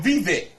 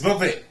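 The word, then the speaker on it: Vivek: I saw his name I was calling him Viet no it's vet vet ramama Swami and I had to listen to somebody else pronounce his last name cuz I didn't know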